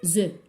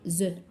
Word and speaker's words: œufs: Au pluriel, je ne prononce pas le F. Je vais dire des œufs. Alors, je ne prononce pas le F. On dit les œufs.